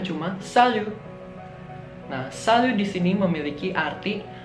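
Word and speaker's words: salut: adalah saldo-saldo tanya disini tidak dibaca ya jadi bacanya cuma salju nah selalu disini memiliki arti Halo akan tetapi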